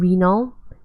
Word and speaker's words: renal: So think renal as anything related to kidney. So when you see the word renal, it's anything related to kidney. Think urinal, but without the U, and spelled with an E.